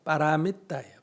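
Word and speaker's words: pāramitā: 우리말로 하면 바라밀다, 발리어로 하면 빠라미따예요. 빠라미따. 빠라미따를 우리식으로 발음하면 바라밀다가 되고, 바라밀다의 다자를 떼고 좀 줄임말이 뭐다?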